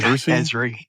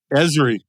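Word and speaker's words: Esri: you've been a ceso of a company called ersy is that how you pronounce it ezri environmental systems Research Institute yeah ezri it's the reason I asked man and you've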